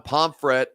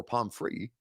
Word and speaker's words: Pomfret: John Pomfret, or Pomfrey, depending on the pronunciation, says 7, best offensive lineman outside of Ben Jones.